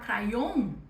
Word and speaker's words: crayon: A com Y também não é um encontro que a gente está acostumado. Mas, se você associar com a letra E, vai dar certo para sua pronunciação.